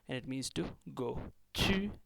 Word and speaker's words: 去: Chew, and you have to squeeze your lips a little, so it has a sound of squeezing in here when it is pronounced.